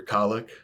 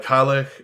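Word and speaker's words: Cailleach: like a spelling for colic yes all right uh colic is spelled uh c-a-i-l-l-e-a-c-h it's one of those one of those fun Gaelic words that doesn't pronounce anything like it looks um dictionary thank you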